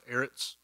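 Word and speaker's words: אֶרֶץ: the hebrew word here is heiress kind of pronounced eretz um and that word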